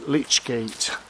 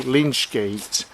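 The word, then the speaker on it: lych gate: the beginning of the churchyard there is a lich gate. I know some people have been hearing me say Lynch Gate, but the actual pronunciation is a lich gate.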